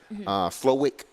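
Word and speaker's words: Slowik: time their offensive passing game coordinator um Bobby slovick that's how you pronounce his name so he's bringing in a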